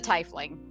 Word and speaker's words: Tiefling: Tiefling was the correct no, pronunciation. Tiefling is the right one.